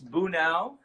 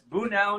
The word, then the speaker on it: Bunao: last name don't its boo now it's boo now not later boo now okay that's a good way to remember it that's the easiest way I could say it